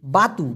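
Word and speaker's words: batu: কাঁদা মাটি একটু দিয়েই দিয়ে যখন দিচ্ছি দেই বাতু বি এ টি ইউ উচ্চারণটা হবে বয় আকার তরস্যু এই বাতু মানে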